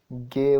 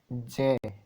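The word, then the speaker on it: ज्ञ: अगला प्रश्न है, गे वर्ण किस वर्णों के संयोग से बना है? गे नहीं बोलते दोस्तों, इसका सही उच्चारण है जे।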